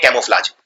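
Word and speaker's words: camouflage: बदलने को बोलते हैं कैमोफ्लाज। तो कैमोफ्लाज में आपको पहले लिखना है कैमो, अब कैमो में एक यू भी आता है, कैमो, ये प्रोनाउंस नहीं होता है लेकिन आता है, और फ्लाज तो सिंपल है FLAGE।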